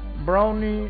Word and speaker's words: Brownie: Brownie, I don't know what the hell is this. It's pronounced Broomy, I think.